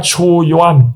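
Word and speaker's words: Qu Yuan: 2300 years ago incorruptible statesman government official name Chu Yuan. Uh, spelling C H and spelling is Q U Y U A N.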